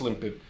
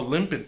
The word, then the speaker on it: Lympid: I think it's pronounced Lympid. It's either Lympid or Lympid. So we'll just say Lympid for now.